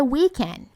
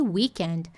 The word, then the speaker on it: weekend: Um i sorridente, ó.